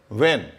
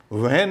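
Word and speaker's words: when: डब्ल्यू के बाद भी एच अगर होगा तो साइलेंट होगा।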